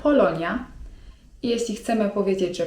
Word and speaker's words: Polonya: 'Polska' to po turecku: Polonya (czyt. polonja) I jeśli chcemy powiedzieć, że pochodzimy z Polski to mówimy: Polonyalıyım (czyt.